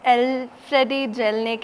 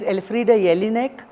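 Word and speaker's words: Elfriede Jelinek: minds like M uh to be the next El Freddy jelnick and Aruna de okay so the firstly get the pronunciations right of all International authors try to learn their language Google Google it Google the pronunciation.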